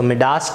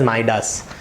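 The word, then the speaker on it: Midas: सो मिडास touch या माइडास touch, अगर आप कोई अमेरिकन या ब्रिटिशर को प्रोनाउंस करते हुए देखोगे तो you would pronounce it एज माइडास, right.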